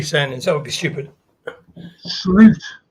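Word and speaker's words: Slot: that would be stupid slute slute that's how you pronounce his name Mr slute when I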